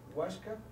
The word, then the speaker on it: Oaxaca: Coahuila Guanajuato Jalisco Michoacán Oaxaca tascala Zacatecas y se pronuncian así meiso chihuahuan Cuahuila guanajuat Jalisco michuaca huasca clasal y Zacatecas hasta aquí si alguien quiere